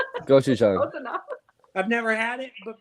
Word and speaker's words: gochujang: Gochujang. Gochujang.